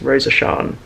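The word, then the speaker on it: Rosasharn: Like whenever Mar, for example, whenever Mar refers to Rose of Sharon, she like mushes her name together and she's just Rosa Shan, like all in one word.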